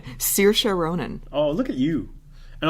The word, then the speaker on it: Saoirse Ronan: Do you want to pronounce the Lady Bird nominees' name? Saoirse Ronan.